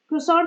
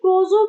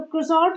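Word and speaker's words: croissant: जहाँ पे रिजा क्रोसॉन्ट बना रही होती है, तो कल इसको बोल रही थी क्रोजो बनाएगी, क्रोजो।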